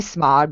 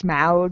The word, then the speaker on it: Smaug: It's Smaug because it's the same Smaug? AU. So it makes the same sound, except I can't do